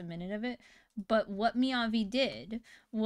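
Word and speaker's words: 雅: So the second Chinese character, it's pronounced Miyavi as well.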